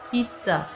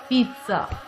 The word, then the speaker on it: pizza: Sandwich, pizza, pizza. T sound is pronounced here before Z sound. This is pizza.